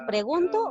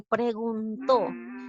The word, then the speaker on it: preguntó: ¿Es el nieto le pregunto o le preguntó? Muy bien, él le preguntó. ¿Dónde lleva la mayor fuerza de voz? En la sílaba to, es decir, en la última sílaba.